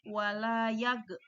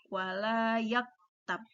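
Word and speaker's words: وَلَا يَغْتَبْ: Maka ketika kita baca wala yaktab, kita tidak boleh membacanya wala yag, tapi cukup membacanya wala yaktab.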